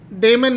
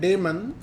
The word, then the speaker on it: daemon: called daemon okay not demon demon means evil damon means angel okay so let's take a look here okay so i'm gonna type d-a-e-m-o-n okay d-a-e-m-o and damon and if i hit enter so it says